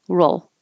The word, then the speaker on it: roll: an old noise also you can't round your lips if you say a good L with rounded lips let me try roll roll roll it'll sound like an O so you have to keep your lips back for a good L roll like roll doesn't have